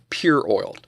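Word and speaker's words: Purol: I decided to use a premium aerospace grade synthetic motor oil called Pure Oil. That's spelled P-U-R-O-L, which is 2 times more expensive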